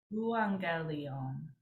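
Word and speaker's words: εὐαγγέλιον: When we see two gammas, it becomes like NG in pronouncing it. And so pronouncing this one, it would be euangelion.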